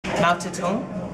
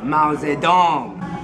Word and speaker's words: Mao Zedong: Mao Zedong? It's pronounced Mao Zedong.